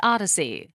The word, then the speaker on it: OHDSI: Data sciences and informatics or ohdsi pronounced Odyssey they Define the standard